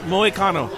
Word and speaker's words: Moicano: How's it pronounced? Moicano.